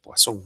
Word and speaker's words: Poisson: Poisson es una distribución, se escribe como Poisson, pero con doble S, y como es francés, se pronuncia Poisson, no Poison, que sería el veneno en inglés.